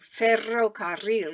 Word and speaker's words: ferrocarril: I like saying ferrocarril. In fact, that's double R is also another sound that's very specific to Spanish. Ferrocarril. That's a good sound to be able to roll your R's.